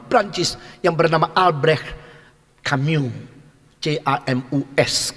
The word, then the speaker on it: Camus: yang bernama Albrecht Camus, C-A-M-U-S. Kalau tulis bacanya Prancis tidak ada S-nya.